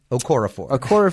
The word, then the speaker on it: Okorafor: Okorafor. Okorafor is, yeah. It's spelled Okorafor. Is, okay, exactly. Okof. RAFOR. Yes. There we go. Thank you. Nnedi Okorafor.